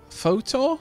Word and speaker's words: fetor: the sprawl and now i've no idea how to pronounce this word photo you know what let me stop being lazy and look it up i need to know inquiring minds must know how to pronounce and what does it mean a strong foul smell okay we'll go with fitor then so the awful smell